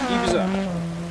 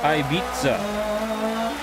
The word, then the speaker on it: Ibiza: Looks like if we go to the comments here, okay, John, there's actually a pronunciation said by Kirk Alves. Ibiza. Oh, okay. So we have to put the beat in the Ibiza, huh? Or Ibiza.